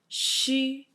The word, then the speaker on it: xu: pronounced as a Chu, X and U pronounced as a Shu, and Y and U pronounced as a Yu.